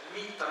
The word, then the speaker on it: Nitra: Nitra en Esperanto, ĝi prononciĝas mole en la slovaka.